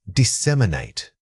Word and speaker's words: disseminate: This is a powerhouse academic verb and its rhythm can be tricky. Focus on separating the syllables clearly so your speech doesn't become a single rush of air.